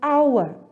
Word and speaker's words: hour: is the letter h it starts with the letter h but there are a lot of exceptions when it comes to english language so we have to listen to the way we pronounce the words when we pronounce the word our what do you hear that is correct we hear the letter a sound in the word that is correct so